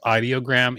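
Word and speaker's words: Ideogram: Um, which is I guess I I guess they call themselves audiogram, even though it's spelled idiogram.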